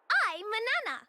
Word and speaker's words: Manana: Yeah, I'm Manana. It rhymes with banana.